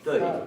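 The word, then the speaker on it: þau: Pero recordemos que este pronombre no se pronuncia thou, sino que se pronuncia thøy.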